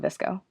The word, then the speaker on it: VSCO: right now I work for a company called visco so what exactly does visco do yeah so um disco which is a spelled vsco we pronounce it disco but you can pronounce it however you want